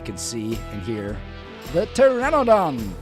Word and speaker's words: pteranodon: And now comes the question if you can see and hear the pteranodon. The P is silent by the way.